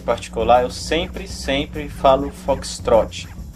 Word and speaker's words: foxtrot: caso em particular pessoal apesar de na regra o correto se a pronúncia foxtrot não é claro você ouve pela companhia e brasil afora o pessoal pronunciar apenas da primeira parte fox assim teoricamente isso não é correto mas muitas vezes os